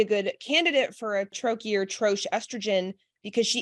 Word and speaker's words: troche: in troche format and I hope I'm pronouncing troche some people call it Church some people call it troki um basically it's the